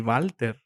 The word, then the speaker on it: Walther: the firearm company yeah it's walter but it's a german country a german company in any case it would be walter walter you know who